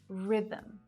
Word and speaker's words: rhythm: The letter H can be silent too, and in a few different ways. Sometimes it's not pronounced at the start of words, like honest, honor, and hour, and it can also be silent if it comes after a C, G, or R, like in choir, echo, ghost, rhythm.